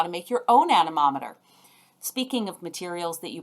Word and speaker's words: anemometer: We measure wind speed with a tool called an anemometer. Let me say that a little more slowly. Anemometer. 5 syllables.